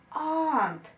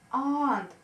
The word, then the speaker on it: aunt: Aunt. Aunt. Долгая А. Aunt. Вот эта вот буковка Ю здесь не читается.